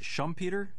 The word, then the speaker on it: Schumpeter: I was impressed that you're quoting Joseph, is it Schumpeter? Yeah. Is how it's pronounced, and Hyman Minsky, the Austrian school, and then in the 70s Hyman Minsky.